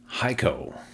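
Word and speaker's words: Heiko: Andrew Cornelia exited his role as CEO and um Haiko is the pronunciation of this gentleman's first name. Schmidt, which you can see the pronunciation provided by Anthony down here.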